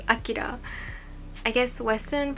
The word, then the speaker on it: Akira: The Japanese pronunciation is Akira. I guess Western pronunciation is Akira.